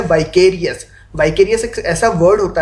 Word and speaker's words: vicarious: विकेरियस, वाइकेरियस pronounce करते हैं इसको, विकेरियस एक बार के लिए बोल के देखिए, वी केयर।